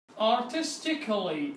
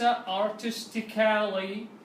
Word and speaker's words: artistically: A will be silent and it will not be pronounced. Artistically وليس artistically, and the same logically وليس logically.